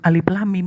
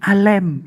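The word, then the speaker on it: الم: Alif lam mim itu sebenarnya bukan alif lam mim bacanya tapi alem.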